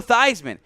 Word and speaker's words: Theismann: yeah i'm with you joe theismann change the pronunciation everlasting to be cooler because it was not joe theismann to ryan with heisman it was real like feesman or something he changed it tyler batty tyler all